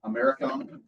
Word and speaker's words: americium: you get berkelium, californium, americium, how do you say it? Americium. But it's spelled like America.